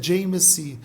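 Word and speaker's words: Jai Masih: Mas quando ele se converte no Nepal, ele coloca a mãozinha do lado, ele diz Jai Messi, Jai Mashi. Aí a pronúncia é Jai Messi, que significa eu te saúdo pela vitória de Jesus na cruz.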